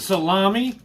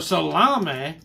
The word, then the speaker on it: salami: Whether you pronounce it salami or salame, it doesn't matter.